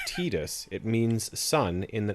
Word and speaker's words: Tidus: pronounced tita and therefore the assumption is the first syllable to be pronounced the same in his english name the pronunciation of his